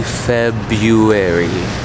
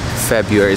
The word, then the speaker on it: February: Well, I would say February. February, so ignore that first R.